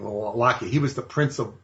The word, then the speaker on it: Wallachia: The southern part of Romania is Wallachia, with a W, spelled with a W, Wallachia.